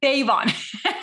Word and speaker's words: Davon: i mispronounce your last name how do you pronounce it devon davon here we are i always feel like i'm